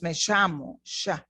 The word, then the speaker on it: llamo: Hola, If I was from Argentina, I would have pronounced me llamo, sh. They pronounce the double L stronger.